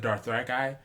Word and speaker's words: Dothraki: And George R. R. Martin pronounces it Dothraki, so I'm pretty certain that I have to change my pronunciation because I mean that's the guy, like the guy is pronouncing it Dothraki, so I kind of feel like that means we're wrong.